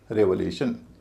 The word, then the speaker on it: revelation: इसमें भी TION से पहले क्या है? ए है, उसका उच्चारण भारी होगा। उससे पहले जो है ई है, उसका उच्चारण हल्का हो जाएगा। और ई से पहले जो वोवेल है उसका उच्चारण फिर भारी हो जाएगा। तो वही जो रिजर्वेशन में है वही इस शब्द में भी है, इसको बोला जाएगा रेवलेशन, रेवलेशन।